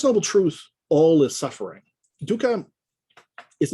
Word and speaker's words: dukkha: But the word used here is the word dukkha, okay, typically spelled in English D-U-K-K-H-A, dukkha, D-U-K-K-H-A, dukkha.